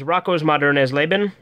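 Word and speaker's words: Rockos modernes Leben: by turbine title is rocko's modern as Laban that's how you say it in German find it interesting there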